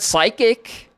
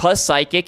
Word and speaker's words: psychic: We do it for the word psychic. You know, it's not psychic, it's psychic.